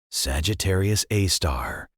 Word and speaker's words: Sagittarius A*: Sagittarius A abbreviated SG A and pronounced Sagittarius A star.